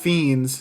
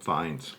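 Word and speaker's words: Fiennes: was good also Ralph fiends is that how you pronounce it fines fines really good performance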